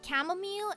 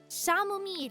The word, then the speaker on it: chamomile: I knew someone who pronounced chamomile as Shamir. Well, that's so like an S instead of a C.